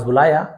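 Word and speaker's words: bowl: अपने थैले से ही टूक आउट a shining golden बाउल। टूक आउट मतलब होता है बाहर निकालना। Golden बॉल। इसे बाउल भी कहा जाता है। बहुत से लोग बॉल भी कहते हैं।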